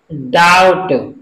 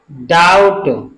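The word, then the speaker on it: doubt: दी ओ यू बी T silent है इसका उच्चारण क्या होगा डाउट डाउट ल ए एम बी नहीं पढ़ेंगे इसको क्या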